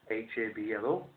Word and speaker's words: habló: Hablo, H-A-B-L-O. And then adopting the same spelling but a different stress, this time on the last syllable, on the last vowel, is the Spanish translation